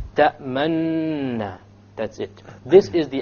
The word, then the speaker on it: تَأْمَنَّا: لَا تَأْمَنَّا عَلَى يُوسُفَ تَأْمَنَّا. It's as if I'm doing a dhamma. تَأْمَنَّا. But I didn't do a dhamma. You just show it with your lips and you don't actually pronounce anything. Now the reason this is